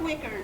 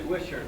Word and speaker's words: Wisher: Now, we have Wicker. Did I pronounce it right? It's actually Wisher, like wishing Congress would earn their paycheck.